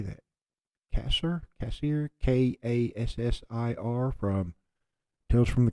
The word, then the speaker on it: Kassir: Cassir, Kassir, from Tales from the Crypt. Oh, shit. John Kassir.